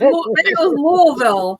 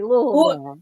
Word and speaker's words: Louisville: Maybe it was Louisville. That was that one. Yeah, exactly, Louisville. Because that one, it just sounds like you have marbles in your mouth.